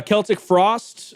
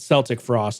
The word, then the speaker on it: Celtic Frost: Uh Celtic frost or is it Celtic frost? I've heard it both ways.